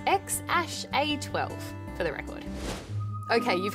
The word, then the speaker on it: X Æ A-Xii: It's pronounced X Æ A-Xii, for the record.